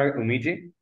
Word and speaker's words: Oomiji: what I'm understanding is that um am I pronouncing umiji yeah that's right uniji all right so umiji